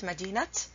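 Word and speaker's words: مدينة: say madinat al O'Hara you don't say Madden al-qahirah the correct way to pronounce it madinat and Kihara then this is Tamar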